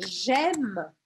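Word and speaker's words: j'aime: Olha aqui, não falo E no final, porque a gente viu isso no começo da aula. A última coisa que eu vou pronunciar é o M aqui, gem, gem. E eu paro aqui o som no M, gem. E aqui eu vou fazer matemática das letras nela. E aí eu vou pronunciar AI com som de E.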